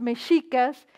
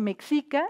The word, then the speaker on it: Mexica: en eran los maestros micas y eran aquellos eruditos que formaban a la gente importante en México del pueblo mexica no no se dice México ni mexica es Mica y yo quise comenzar